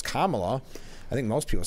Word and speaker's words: Kamala: I mean, it's Kamala.